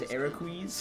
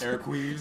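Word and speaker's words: Eraqus: And now I only pronounce his name as Ericus. Ericus. Because that's how IGN pronounced his name.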